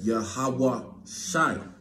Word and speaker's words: Yahawashi: so they are the words of Our Lord yahawah Shi right that's how you say that's that's how you pronounce the the uh the name of the